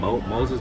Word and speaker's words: Moses: But then I understood because they were pronouncing my name wrong. The way they were trying to pronounce my name, Moses, they were saying mouse. They was getting it all wrong.